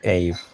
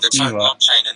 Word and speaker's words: Evaa: Americans they tend to say Ave because it's like how you read it, and if it's Ave in reverse, then it should be pronounced Eva, right? Ave, Eva, not Eve or Eva. Well, I'm not sure whether it's correct to inverse spelling, but within the team we name our protocol Eva.